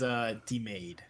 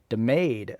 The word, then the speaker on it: DeMaegd: I believe it's DeMaegd. No. It's not. Okay. No. I was Church missing Street Broadcaster has lied to you the whole time. It is DeMaegd. DeMaegd.